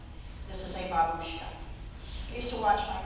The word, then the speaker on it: babushka: this is called a Babushka grandmother is pronounced differently though it's the same word but it's pronounced Babushka this is a Babushka I used to watch